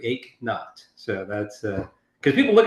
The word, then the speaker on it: Eknauth: It's Eknath, like no pain. So imagine you did not work out today, and you don't hurt. You ache not.